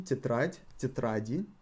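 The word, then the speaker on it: тетрадь: you hear the pronunciation titrate titrating the emphasis falls on ah in both in the singular and in the plural so there is no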